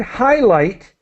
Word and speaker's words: highlight: let's now the word highlight the GH is silent we do not pronounce it so the Highlight uh actually both examples of GH are silent okay so high light highlight all right great and